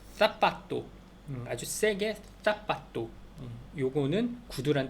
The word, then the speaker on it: zapato: ¿Cómo se escribe zapato? 사파토가 그러니까 세하고 세 알파벳 C도 있지만 그 Z 있잖아요. G도 세 이렇게 가장 대표적인 거 사라 스페인에서는 자라가 아니라 사라라고 한다고 그랬잖아요. 그래서 그 사파토 아주 세게 사파토 요거는 구두란 뜻인데 그 사파토를